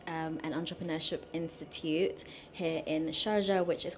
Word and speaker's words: Sharjah: So this is the map of the historic town of Sharjah, or it's actually meant to be said as Sharqa, which is how you say it properly.